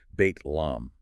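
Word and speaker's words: بيت لحم: And the last one Bethlehem or as it's pronounced in Arabic bait lom.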